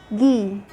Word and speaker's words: ghee: Sometimes when I have a GH at the beginning of a word, the H is silent and I only pronounce the sound of the G. Like when you say ghost, ghee, ghastly.